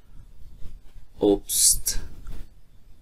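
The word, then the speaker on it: Obst: استی مخصوصا در آخر جمله اگر ذکر شوه اکثرا استی است تلفظ میشه. است مثلا اوبست اوبست اوبست میوه.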